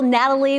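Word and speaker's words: Gnatalie: million years ago and they named the fossil Natalie with that silent G because of all the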